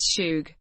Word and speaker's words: Suge: was born in Compton California the son of Maxine nade Ike men and Marion night senior his name sug pronounced sug derives from sugar bear a childhood nickname he